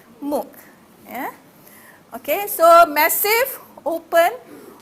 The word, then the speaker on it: MOOC: so what is mock this is how you pronounce it like book Muk yeah okay so massive